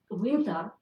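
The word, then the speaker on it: Uintah: And in downtown Colorado Springs, the main boulevard, it's spelled differently. Locally, it's pronounced Uinta, but it's Winta.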